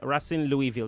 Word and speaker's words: Racing Louisville: It is what it is, But you play in with Louisville, Racing Louisville. That's how you say it. Racing, Spanish. Say Racing.